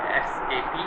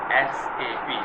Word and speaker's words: SAP: Let me tell you the pronunciation SAP. Some people call it SAP. Actually it's not SAP. When we go to pronounce a word in the capital letters, specific keywords that called by word by word, character by character, like SAP.